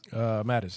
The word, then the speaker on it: Mattis: I actually don't mind General Mattis or Mateus. How do you pronounce his name? Is it Mattis? Mattis, yeah.